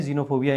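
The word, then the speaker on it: xenophobia: ठीक है, सो जीनोफोबिया ऐसे करके इसको याद रख लेंगे, जीनोफोबिया यानी कि ध्यान रखना जब एक्स से कोई शब्द शुरू होता है उसको ज की प्रोनाउंसिएशन आती है।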